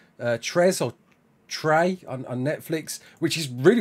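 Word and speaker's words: Trese: It's called Trey, was it? Yeah, Trey or Trey. Yeah, it's spelled T-R-E-S-E.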